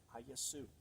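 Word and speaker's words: Ἰησοῦς: of his name I the last s is silent aasu which then gives glory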